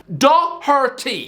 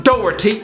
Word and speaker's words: Doherty: todd and matt doherty okay say with me da harty most people in england while trying to pronounce irish names just seem when they lose control of their tongue no it's not a dougherty does he look like